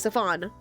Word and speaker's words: Safan: Okay, I pronounced it right, I think. Safan. Like Stefan. Safan.